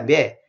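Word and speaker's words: με: 매. 헬라어의 글자가 똑같아요. 매. 글자 모양은 좀 다릅니다만 발음이 똑같아요.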